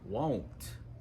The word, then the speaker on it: won't: And the contraction for will not is won't. Won't. You may need to tell your teacher or a friend this: I won't be in class tomorrow. And again, just like don't, remember in won't that oh sound.